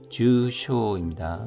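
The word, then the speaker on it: 重傷: 게쇼 하면 경상이고 중상은 주쇼입니다. 둘 다 장음입니다.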